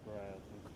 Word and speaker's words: Broughton: And people pronounce it as Broughton. It's the intersection right here, Broughton.